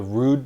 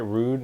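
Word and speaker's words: Rhude: of people there, the Atmos booth, and the Rude booth. Is that how you say it? Rude?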